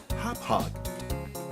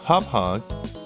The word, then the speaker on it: Hauppauge: you pronounce this yes according to me it's pronounced okay hop hog so hop hog hd pvr rocket so this is a entry-level